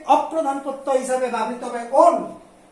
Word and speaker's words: one: তাহলে এক্ষেত্রে অপ্রধান প্রত্যয় হিসাবে ব্যবহৃত হবে ওন। ও দন্তন্য, দ্যাট ইজ ইংরেজিতে ONE, উচ্চারণটা কিন্তু 1 হবে না।